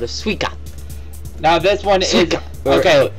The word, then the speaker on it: Suica: this is called a suica now this one is okay sika sorry sika cause i because um su is pronounced as a regular s sound in japanese well these things of